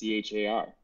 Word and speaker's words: char: How do you pronounce char? Char. Char. Also char. Char. Sounds like you're trying to be Charmander.